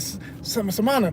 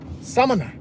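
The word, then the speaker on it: Samaná: Last Dominicans I met, and I said, yeah, I went to Samana. They said, no, Samana. I said, oh, okay, let me get my pronunciation right.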